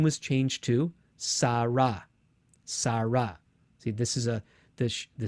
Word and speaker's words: Sarah: So this is a sin, a resh, and when the hey is at the end, usually it's not pronounced at all. And that's why the English name Sarah has an H at the end, because of the final hey.